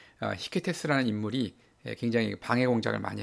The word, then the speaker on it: 히케테스: 사람들이 이제 하는 수 없이 그 시켈리아의 레온티니를 통치하는 히케테스, 이제 프랑스어 발음으로 이제 이케테스라고 발음이 되는데 여기에 이 사람한테 도움을 청하죠.